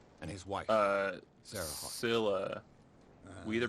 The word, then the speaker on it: Scylla: Scylla. We either pronounce it Nice Scylla woman. or Sheila, Great painter. What a but like tragedy. in Greek it would have been pronounced You know Skula.